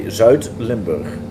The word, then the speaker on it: Zuid-Limburg: If you want to pronounce it right, you say Zuid-Limburg.